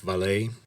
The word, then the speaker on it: Vallée: And that brings us to an older French man named Jacques Vallée, Jacques with an acute accent mark, and then, of course, since it's French, a final E that you don't actually pronounce. Jacques Vallée is one of the elder statesmen of the ufology community.